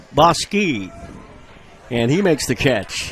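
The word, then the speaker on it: Bouska: The way this young man's last name is spelled looks like it's Bauska, but it's Boski. B-O-U-S-K-A. It's pronounced Boski.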